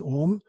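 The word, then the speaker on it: Ogham: written language it's called ohm spelt Angelica or gh a.m. pronounced as ohm GH in Gaelic is silent so ohm was a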